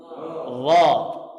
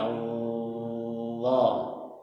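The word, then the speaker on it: الله: Cuman ini awalannya agak sedikit saya jelaskan. Allah. Ya, tapi bukan seperti itu juga bacanya. Itu untuk memperjelas saja, itu perbedaan dengan huruf dzal. Kalau dzal kan seperti ini. Dza, dza, dza, dha, Allah. Jadi pada saat itu pangkalnya sudah naik.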